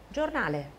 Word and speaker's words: giornale: 因为前面有一个子音。Giornale。